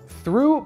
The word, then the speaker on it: through: Through произносится через длинный звук U, and please don't forget about th. Иначе это получается что-то не очень прилично.